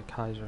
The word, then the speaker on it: Caesar: salad for that Italian, whereas if it were for Julius Caesar it would be the Kaiser salad, this being a hard K rather than a soft C for his last name.